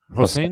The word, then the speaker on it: Hossein: whose real name is how do you pronounce it? Hossein. Hossein.